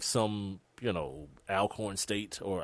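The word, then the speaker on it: Alcorn: like some you know alorn state or I guess all corn state is the way it's supposed to be pronounced it probably would be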